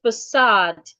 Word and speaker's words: facade: The second word is facade. You're stressing the second syllable in facade. And the second syllable has a long vowel.